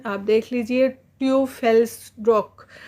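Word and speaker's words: Teufelsdröckh: इसका प्रोनाउंसिएशन आप देख लीजिए, ट्यूफेल्स्ड्रॉक। तो ट्यूफेल्स्ड्रॉक।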